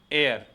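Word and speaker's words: heir: का इसके बाद एन एयर इसका एयर एच साइलेंट रहता है तो इसमें भी किसका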